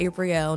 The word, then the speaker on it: Apriel: but I go by Apriel nowadays. But Apriel, because the way your name is spelled, it sounds like Apriel, right? Yes. But they pronounce it April still.